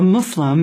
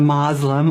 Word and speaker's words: Muslim: does the practice Yeah so a Muslim not a mlim or we have so many different pronunciations but the most correct is Islam and Muslim muslim okay we're and